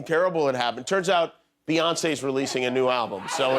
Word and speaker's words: Beyoncé: So it's actually Beyoncé, not Beyonce.